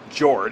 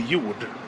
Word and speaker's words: Jord: Well, I can pronounce it in Swedish. It would be Jord. You would? Yeah. So that in English writing, that'd be like Y-O-O-U-D.